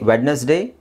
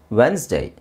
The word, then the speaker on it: Wednesday: which is very easy did you just say wedness Day of course which is Wednesday wedes why would you want to say wedness day can just say Wednesday okay yeah let's see